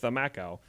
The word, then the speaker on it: camakau: They used the design of a traditional boat called a kamaku, pronounced the Macau, even though it's spelled Camakau, it's pronounced Thamakau, without their permission.